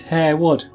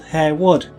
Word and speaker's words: Harewood: There's a word Harewwood, which is Harewood, and the place is called Harewood, but the fellow who owns Harewood is his name is a lord, and he's Lord Harwood. It's spelled exactly the same, but Hare Wood. He is Harwood. The place is Harewood, and you have to be a local to know that. O.